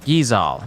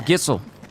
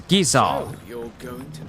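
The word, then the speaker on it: Gysahl: Giza Al Green oh so that's how you're pronounce it Giza so now we don't I thought it was gissel I thought it was gissel greens or Jizzle drink yeah or drizzle greens but it's Giza how about a few spicy sausages the Bandit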